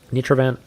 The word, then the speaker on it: Nitroan: Also, by the way, my name is pronounced with the first part like ny for ni, not ni.